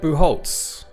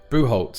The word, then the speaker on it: Bucholtz: here we are kitty boo Holtz boo Holtz yes Holtz is um I was just saying to offer not something I would have read your name and immediately pronounced it like that but yeah well what